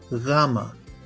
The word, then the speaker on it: γάμα: At the beginning of the word γάμα, you may hear the sound we are looking for, almost like the pronunciation of the G in amigo. You may know the word amigo, friend in Spanish, but the G has a merged GH sound, so amigo.